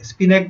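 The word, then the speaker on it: spinach: स्पिनाक में H silent है, एच is dumb.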